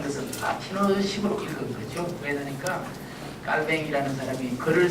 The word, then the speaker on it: 칼뱅: 그래서 이제 칼빈, 켈빈은 영어식으로 이제 부르는 거고, 발음을 할 때는 깔뱅이 맞습니다. 깔뱅이 맞는데 그걸 이제 주로 쓸 때는 칼뱅이라고 쓰죠. 된소리가 나지 않아야 된다는 우리 문법이 있죠. 그래서 외국어 표현법에 따라서 이제 쓸 때는 칼뱅, 그러나 말할 때는 이제